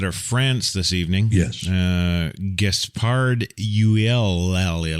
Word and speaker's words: Gaspard: Gaspard, so Gaspard. Yes. Right. Right? No, you don't say the D, you fool.